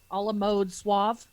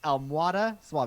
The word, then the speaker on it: Almohada Suave: The innkeeper at the a la mode suave. Right, that give one. an inspiration point if you pronounced it correctly. It's Almohada Suave.